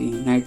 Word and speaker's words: knight: और इसी नाइट के पहले के आ जाता है जो कि साइलेंट होता है, KNIGHT, नाइट मीन्स होता है शूरवीर। और इसका प्रोनाउंसिएशन आप देख ही रहे हैं, सेम होता है।